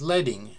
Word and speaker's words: leading: for line spacing is leading it rhymes with bedding so named because traditional